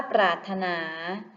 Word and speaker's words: ปรารถนา: ค่ะ ข้อ ที่ 2 คำ ว่า ปรารถนา พยัญชนะ ตัว ใด ที่ ไม่ ออก เสียง คะ ถูก ต้อง ค่ะ พยัญชนะ ที่ ไม่ ออก เสียง คือ ร เรือ ค่ะ และ คำ ว่า